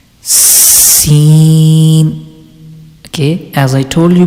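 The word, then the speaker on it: س: one is seen seen okay as i told you before whenever you are reading scene letter you have to make a sound of whistle seen okay i think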